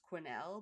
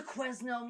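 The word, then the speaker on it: Quesnel: from a place that you don't pronounce the S, it's Quinnel, but it's spelled Quznel. So, anybody that ever covers her is always like the Quznell Museum.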